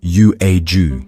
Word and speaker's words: Yuezhi: His task was simple: travel west, find a tribe called the Yuezhi, pronounced Yu-e-ju.